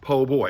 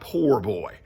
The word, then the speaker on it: po' boy: And it's pronounced po' boy. It's P-O'-B-O-Y, not poor boy.